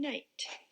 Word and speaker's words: night: The letters I, G, H together stand for the long I sound in night.